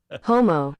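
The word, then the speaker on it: Houma: They're saying homo.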